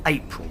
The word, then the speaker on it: April: Her name is pronounced like the month, April.